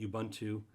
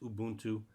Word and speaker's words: Ubuntu: to call this ubuntu there's many ways of pronouncing ubuntu it's ubuntu i call it ubuntu um but the real official way of saying it is ubuntu i just find it sounds really strange because i've always called it ubuntu and i've